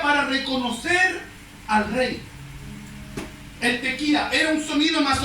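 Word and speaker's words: tekía: El primer shofar, uno de los más importantes, de los 4 importantes, se llama tequía. Tequía, con K, acento en la I. Tequía, tequía.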